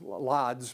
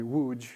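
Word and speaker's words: Łódź: of them is called wuj it it looks like it should be pronounced lods but it's actually wuj in Polish Don tells me um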